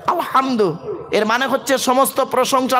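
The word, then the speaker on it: الحمد: আলহামদুলিল্লাহি রব্বিল আলামিন, বলেন তো আলহামদু, গলার ভেতর থেকে হে এটা উচ্চারণ করবেন, আলহামদু, এর মানে হচ্ছে সমস্ত প্রশংসা আল্লাহ তোমার।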